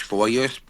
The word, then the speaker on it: foliar: He said it's not PM, it's foliar.